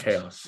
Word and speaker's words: chaos: like yacht um and sometimes it makes a k sound like chaos chaos and it is it